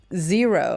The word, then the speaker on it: Xero: Xero, and that's spelled zero with an X, is absolutely fantastic, and it is available for Australians and the US.